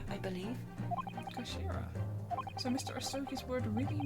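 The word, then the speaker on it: 頭: end of the hilt it's written as head in Japanese but it's pronounced as Kashira I believe Kashira so Mr oi's word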